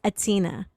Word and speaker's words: H'Atina: Now, it's spelled with an H. I usually try to put the H sound in there, but when the bio came through, she was very clear, okay? The H is not sound, it's silent.